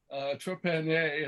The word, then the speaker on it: Trepanier: Again, we've been talking to Trepanier. Trepanier, it's that French pronunciation.